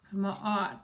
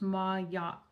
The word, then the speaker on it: Ma'at: Ma'at, pronounced Ma'at Ma'at Ma'at m a Ma'at.